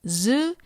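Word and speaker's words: ヅ: But if you happen to see this, ji is pronounced with a J sound and zu is pronounced with a Z sound.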